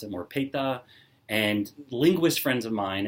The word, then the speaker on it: Peta: and they said no the emphasis is on the second second syllable it's patate it's not a pate